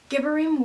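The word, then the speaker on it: Gibborim: For anyone wondering, Gibberim would be the correct pronunciation.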